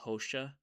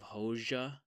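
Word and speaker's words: Hoxha: There are a lot of times where I had to catch myself because I kept saying Hosha instead of Hoja for that sort of pronunciation.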